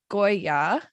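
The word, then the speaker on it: กอริลลา: or geet uh said don't pronounce the letter r too clearly for example gorilla say goya the same g and o pronounced in gloss so thank you very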